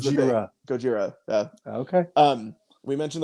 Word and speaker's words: Gojira: It sounds like an Asian guy saying Godzilla. That's the point. That's how. Yeah. Oh, that's what it how is? Asian people pronounce. Okay. Godzilla. Yeah. that is Gojira.